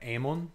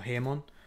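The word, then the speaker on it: ἡμῶν: I like to use the reconstructed Koine pronunciation, which still pronounces eta as e. So pater emon or hemon, if you do the H.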